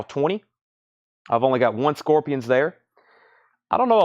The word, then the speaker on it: Scorpions: It's the Scorpions.